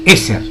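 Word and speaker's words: עזר: palabra ayuda significa en se pronuncia eser en hebreo ayudador ayuda idónea socorrer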